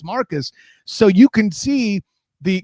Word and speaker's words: Marques: Like, and a little behind the curtain, I was actually calling him Marquise, which was not accurate. It's Marcus.